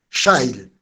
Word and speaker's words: shale: Shell no tiene nada que ver con la empresa que conocemos acá, porque Shell se escribe S-H-A-I-L, Shale, pero se pronuncia Shell Fracking, que es la forma de sacar petróleo.